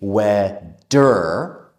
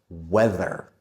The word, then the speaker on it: weather: But in the word weather, we need the vv sound with the voice. So we don't say weather or weather. We need the the tongue out weather.